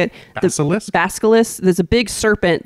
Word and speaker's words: Basilisk: So the monster in this one is the Balisk. That's how you say it. Basilisk.